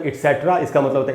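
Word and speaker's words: et cetera: Words इटसेट्रा, अब ये ईटीसी को बोलते हैं इटसेट्रा।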